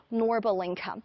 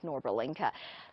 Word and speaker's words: Norbulingka: showing you this lovely park, which we call Norbulingka.